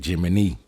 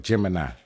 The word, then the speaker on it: Gemini: Gemini, you know they they say Jiminy. Jiminy, right? Um, that's how the ancients used to pronounce it, but Gemini, right?